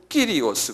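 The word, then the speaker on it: κύριος: 그러니까 실은 우리가 지금 발음하는 주님. 이것은 이제 헬라 말로는 더 로드를 뭐냐면 끼리오스 그래요.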